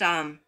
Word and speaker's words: Aum: Aum is esoterically pronounced Aum, as described below.